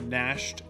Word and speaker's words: gnashed: Does anyone actually know what gnashed does? It's spelled G-N-A-S-H-E-D, gnashed.